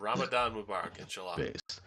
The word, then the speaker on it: Ramadan: uh Ramadan Mubarak that's how you say it Ramadan all right so his question was very like